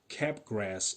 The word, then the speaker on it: Capgras: of delusion it's called cap grass syndrome i don't know if i pronounce it correctly i i've always pronounced it as capgras syndrome it spells like c-a-p-g-r-a-s cap grass syndrome it's